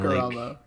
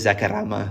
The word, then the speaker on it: Zacarama: said Zacarama. Like the name Zach, because my real name is Zach. Yeah. And like, it's funny because multiple people have pronounced it weird names. You know Goblin, right? Goblin can dance. Yeah. He pronounces it Zacarama, like he rolls the R.